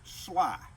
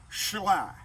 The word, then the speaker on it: Schley: you would pronounce that shall i which is a little difficult i would rather he had named it sly and spelled it sly but that was his